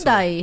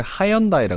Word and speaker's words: 현대: 현대 외국에서 휴다이. 휴다이라 그래요? 윤다이를. 칠레에서는 처음에 저 호주에 있을 때는 현대를 하현다이라 그랬어요. 하현다이. 거기는 발음을 몰라서. 휴다이인데 H를 발음 안 하거든요. 스페인어가. 그러니까 윤다이.